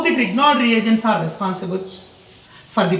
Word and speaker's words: Grignard: Fourth method of preparation from Grignard reagent.